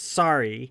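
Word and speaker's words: Saari: helm and Helm's been sorry which is spelled s-a-a-r-i some people think it's like sorry like you're sorry or I'm sorry it's not it's sorry s-a-a-r-i wouldn't do that to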